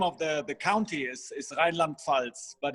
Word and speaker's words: Rheinland-Pfalz: So I think the name of the county is Rheinland-Pfalz, but it's divided in two parts.